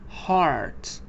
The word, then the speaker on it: heart: it is another spelling sometimes E A is pronounced like ah for example in the word heart you see E A